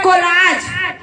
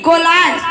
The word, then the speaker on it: collage: उसमें बहुत सारा फोटो को आप लोग जोड़ जोड़ के जो डालते हो ना स्टोरी में उसको बोलते हैं कोलाज। COLLAGE कोलाज।